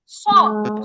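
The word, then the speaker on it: صاد: ওই সিনের মত হচ্ছে সদ হ্যাঁ এটা আবার বাতাস বের হবে না ওই যে শিন এরকম উচ্চারণ হবে না সদ সদ সদ সদ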